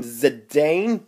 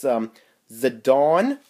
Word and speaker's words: Zidane: here's a dawn um I used to call him Zidane but that's not how you say it all these years it's the dawn dagger here's the original